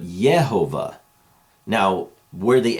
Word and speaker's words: Yehovah: even used, other than it was probably more like the letter I, if you could see it in the old writing, and it hints at and really makes it clear that the sound was not Jehovah, but Yehovah.